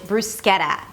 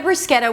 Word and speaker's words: bruschetta: But since the T is in between two vowels it's a flap T. 'bruws-keh-da', "bruws-keh-da". Can I get a bruschetta with tomatoes and garlic